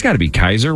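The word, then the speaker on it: Kiser: r I think right I assume it's Kaiser I would assume kisser would be two s's yeah k i s e r it's got to be Kaiser right I would think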